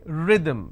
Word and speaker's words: rhythm: words but same pronunciation next word rhythm it starts with the vowel sound ra can i say rhythm no i say rhythm which means short vowel sound e re the